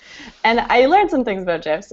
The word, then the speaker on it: GIF: it GIF with a soft G as in gin. So you're being more true to the creators if you pronounce it GIF, although I also acknowledge that GIF sounds very cool.